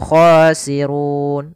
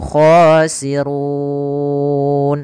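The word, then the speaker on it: الْخَاسِرُونَ: ada huruf mad panjang Mad Arid boleh dua harakat boleh empat harakat boleh en harakat maka boleh humul khasirun dua harakat humul khasirun EMP humul khosirun en harakat kita coba ulang alladzina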